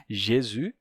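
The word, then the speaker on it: Jésus: eu já expliquei ressus em francês Jesus né então já expliquei esse J do espanhol em francês é igual do português não tenho o que explicar Jesus o s final fica mudo o u se torna u Jesus em italiano a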